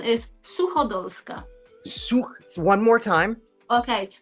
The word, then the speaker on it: Suchodolska: The pronunciation is Suhoa. Su one more time. Okay. SuKa. Suhoa.